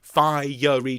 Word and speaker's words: fiery: settings of the words fi yuri chariot he wants three syllables so low there came